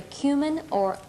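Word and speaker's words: comino: a tablespoon of either cumin or cumino Kino is the Spanish pronunciation and um and um the kumin is the English okay one one half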